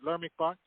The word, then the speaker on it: Leimert Park: Pronounce it again. Leimert Park.